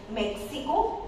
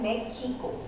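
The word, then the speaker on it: México: For word like Mexico, it's produced J sound, and J in Spanish is known as ho-tah. So it produces, we will call it as Mexico.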